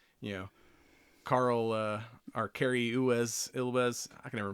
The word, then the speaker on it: Elwes: But, you know, Carl, or Cary Ilwes, I can never pronounce his name. Elwes, yeah.